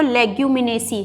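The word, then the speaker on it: Leguminosae: कई जगह तो लेग्यूमिनेसी लिखा हुआ मिलेगा आपको, लेकिन एक्चुअल में जो वर्ड है इंग्लिश में अगर हम उसे प्रोनाउंस करेंगे तो लेग्यूमिनेसी है, ठीक है।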